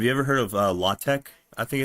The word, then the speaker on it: LaTeX: ever heard of uh latte? I think it's pronounced. It's spelled like latex, but it's pronounced latte.